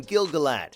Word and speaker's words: Gil-galad: enjoyable as an illustration the actor gives the name gilgalat where many people would pronounce it with an a sound but elvish only has pure vowels therefore there are no schwas walker said the